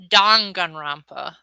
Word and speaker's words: Danganronpa: no worries and yes it is pronounced don gunrampa i know that because